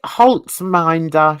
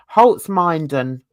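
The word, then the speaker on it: Holzminden: Oh no, Holtzminder she was in. No, say it properly. Holtzminden.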